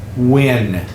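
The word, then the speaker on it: Nguyen: Vietnamese family name and it's pronounced win it sounds like w i n Win yes that is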